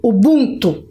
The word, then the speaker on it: Ubuntu: Opa, pronunciei errado, porque a sílaba tônica é bum. Ubuntu.